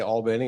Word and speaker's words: Albany: Went to Darton Junior College in Albany, and that's the right way to say Albany is Albany.